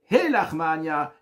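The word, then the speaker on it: הא לחמא עניא: de pauvreté, mais l'expression, on ne dit pas Ha, mais on dit He.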